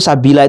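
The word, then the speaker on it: سَبِيلَا: Kalau waqaf berhenti sabila lafaz sabila itu dibaca normal panjang dua harakat kalau berhenti waqaf. Tetapi ketika wasol terus itu sabila itu dibaca pendek sabila atihim.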